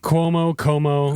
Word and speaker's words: Cuomo: Like Cuomo? Yeah. Cuomo, either one. It's a C, but it's pronounced like a Q.